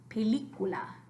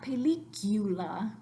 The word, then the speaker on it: película: pull it up and going on película not película purchase food película so after me película película regular regular not the